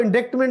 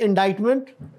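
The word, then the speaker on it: indictment: लगाना तो इनडाइन मेंट कौन सा लेटर साइलेंट है इसमें हमारे एक वजीर थे लॉ के वो भी तो व इसको इंडिक्टमेंट बोल रहे थे you know so this is इंडा मेंट और यह जो है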